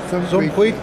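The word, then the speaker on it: Suum cuique: How do you pronounce that? Yeah, Sum Queek.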